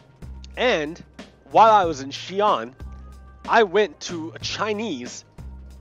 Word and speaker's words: Xi'an: When I went through, I stopped at a place called Xi'an. It's called Xi'an, right? But it's spelled with an X. X-I dash comma A-N. Xi'an.